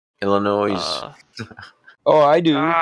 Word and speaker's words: Illinois: south dakota straight line you don't pronounce the s in the illinois illinois oh i do